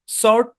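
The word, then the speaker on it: sword: আচ্ছা তারপর দেখেন আরো কিছু শব্দে ডাব্লিউ সাইলেন্ট থাকে, যেমন অ্যান্সার, হ্যাঁ অ্যান্সার, সর্ট টু, এই শব্দগুলোতে ডাব্লিউ সাইলেন্ট, মনে রাখতে হবে।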